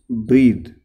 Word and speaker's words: breathe: अगर THE है it will be pronounce ब्रीद. This is verb and there is, if there is नो E after H U will pronounce is ब्रेथ. It will become a noun.